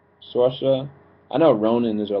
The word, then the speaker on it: Saoirse: Her name is, of course, Melanie, but this is played by, I want to say it right, Shashra. I don't think I said it right. I keep on messing up names. Saoirse.